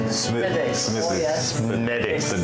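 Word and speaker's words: Smithwick's: The proper way to say it is Smittix. Smittix. Oh, yes. Medics. The W silent. Yeah, W is silent.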